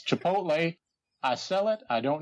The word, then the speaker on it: Chipotle: Mayo yes that's right I said chipot Mayo it's Chipotle I sell it I